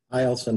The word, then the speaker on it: Eielson: Eielson Air Force Base.